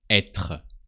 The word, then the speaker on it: être: So first, you need to know that to be in French is être, the infinitive form, the to form.